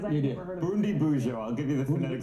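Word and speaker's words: Bundibugyo: Bundabuji? Bundi Buja. Okay. Yes, I mispronounced it.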